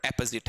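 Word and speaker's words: apposite: ये वर्ड आपका ऑपोजिट है और ये वाला वर्ड एपोजिट है। अभी टॉपिक शुरू नहीं किया है, फिर मैं आपको बताना चाहूंगा, इस वर्ड का प्रोनाउंसिएशन ऑपोजिट है, ऑपोजिट है, ठीक है, और इसका प्रोनाउंसिएशन एपोजिट है।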